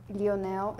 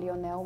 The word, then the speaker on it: Lionel: and the other countries we don't really pronounce the L after we say it's a u sound not an l sound for us Leon Leonel that's how we pronounce